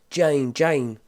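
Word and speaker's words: Jeyne: It's Jane. Or Jane rhymes with pain.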